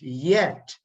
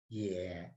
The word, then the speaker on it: 也: So even ye, it spells the same as yet, but it's only a romanization for the Chinese language. So it's pronounced as yeah.